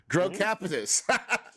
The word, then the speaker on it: Grow Capitus: going to kill this how do you say it capitus well just like it's spelt grow capitus a commercial real estate